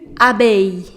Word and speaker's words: abeille: Une abeille. Abeille. Again, ILL comes together, so you do not pronounce double L.